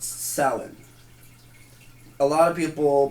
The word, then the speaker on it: Samhain: one today is about okay so it's properly pronounced salad a lot of people pronounce it or know it more as like Samhain Psalm 9 it's frequently mispronounced I was mispronouncing